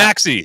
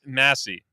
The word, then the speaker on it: Massey: I said I'm not- Maxey. Yeah, nope. It's wrong. I don't know I don't remember what it is. Oh, Unfortunately. it's Massey. That's what Yes, it I'm pretty was. sure. Yes. The C is silent. yeah, deceptively silent.